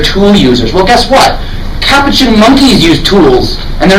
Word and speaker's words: Capuchin: that's how you say it by the way Capuchin there's a movie with Ben Stiller and they